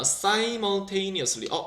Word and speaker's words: simultaneously: 이거 우리 simul 발음해야 된다는 거 기억나니? 동시에라는 말로 쓰는 건데 뭐 at the same time도 쓸 수 있는 건데 simultaneously라고 발음해야 되는 거야. 알지? 시뮬하면 안 돼. 이거 못 알아들어 아무도.